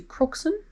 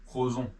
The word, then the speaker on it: Crozon: So we have cancelled the booking and we are going to move somewhere closer to Crookston. Is that how you say it? Crozon.